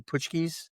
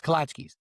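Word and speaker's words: Kołaczki: Is that how it's pronounced? Katchkis. Kachchkis. Kalachkis. Kalachkis. Um those Yeah. Pushki is a donut, right? Correct. Yeah. Kalachki, the cookie.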